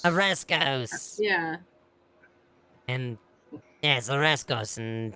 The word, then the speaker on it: Oreskos: Orescos. Oreskos! Yeah. And yes, Oreskos and Tethmos. They're not pronounced the same.